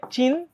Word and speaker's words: চিহ্ন: একটা শব্দ চিহ্ন তাহলে এটার উচ্চারণ কিন্তু চিহ্নও না এটার উচ্চারণ কি হবে এটার উচ্চারণ হবে চিন একটা হসন্ত তারপর হ চিহ্ন হ আগে ন পরে হ অর্থাৎ এটার উচ্চারণটা হয়ে যাবে উল্টা আগে হবে ন পরে হবে হ ঠিক এটাও আগে ন